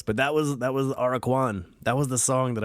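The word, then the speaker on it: Aracuan: i don't know what i've been saying but it's araquan bird araquan and listen to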